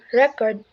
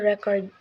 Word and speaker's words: record: world class for example the word record can be noun or verb and this transposition change es accordingly as a noun the stress is on the first syllable record as a verb and the stress on the second syllable record rules and stressing syllabic